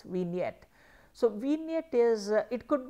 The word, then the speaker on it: vignette: Then you have vignette, it is called a vignette, the G there is silent, it is vignette.